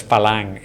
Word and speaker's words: farang: Well, I think farang is the Yeah, pretty much the only word. pronounced as falang in Thai.